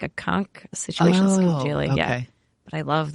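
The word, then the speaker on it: scungilli: But you have to pronounce it like a Staten Islander. Oh, right. You have to drop. Yeah. It's amazing. Or like the Sopranos. You have to drop all the final vowels from everything.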